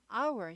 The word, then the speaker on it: hour: hour 시간이에요. 시간 h가 묵음이에요. 발음이 아예 안 나요. hour 아니고 hour 이렇게 되죠.